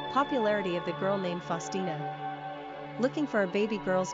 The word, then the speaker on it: Faustina: Pronunciation, Faustina.